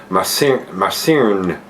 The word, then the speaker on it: myrcene: In the American Cascade, it has high levels of the terpene myrcene, M-Y-R-C-E-N-E, myrcene. It's M-Y-R, which is myrcene, I think that's how it's pronounced.